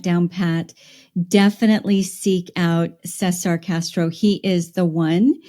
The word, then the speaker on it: Cesar: So Cesar is spelled Caesar, but it's Cesar. Yeah, it's actually CESAR. That's Cesar.